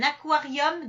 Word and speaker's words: aquarium: ensuite on a donc les mots Q u dont le U se prononce ça c'est l'origine latine